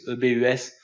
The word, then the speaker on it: ebus: Rappel du lien, eric.solution/ebus, E-B-U-S, voilà, donc ebus si on prononce à la française.